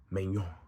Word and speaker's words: Maignan: Mike Maignan. I pronounce it right, guys.